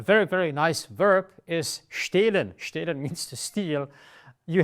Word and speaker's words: stehlen: When you have this kind of threads of cheese coming between the macaroni, it makes the vowel standing before it longer. So it's stehlen.